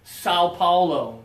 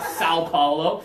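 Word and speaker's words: São Paulo: so so so Paulo where you have to go through your nose and Americans we don't have that in English we don't have the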